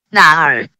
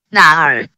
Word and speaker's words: 哪儿: When pronounced with the third tone, sounds like a question. This makes tones very important in Chinese language. 哪儿? 哪儿?